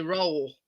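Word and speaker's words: Röhl: um yeah the Sheffield Wednesday manager called Danny roll roll roll it's spelled r o HL so in the grand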